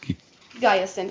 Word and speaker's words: Guyson: And it's pronounced Guyson. Or Guyson? you can say Giason if you want to be fancy.